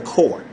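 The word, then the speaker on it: corps: for the S cuz we spell it c o r PS all right but we pronounce it core pronounce my Marine wrong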